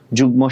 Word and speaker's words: যুগ্ম: বাট এই একটা ব্যতিক্রম রুলস যে মাঝে মধ্যে মফলার উচ্চারণ হয়ে যায়, কখন? যুগ্ম, আমরা কিন্তু যুগ্ম বলি না, যুগ্ম, যুগ্ম সাধারণ সম্পাদক, ঠিক আছে, তো যুগ্ম বলি, ঠিক আছে।